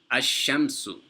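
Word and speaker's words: الشمس: For example, ash-shamsu. So we didn't pronounce the sukoon on the lam, but rather we added a shadda over the letter that comes after the lam.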